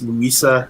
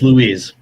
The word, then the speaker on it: Louise: And then number 3 is, I believe it's, I'm not sure how it's pronounced, but I believe it's Louisa Ramberg. Or number, in first place is Louisa Ramberg. It's Louise.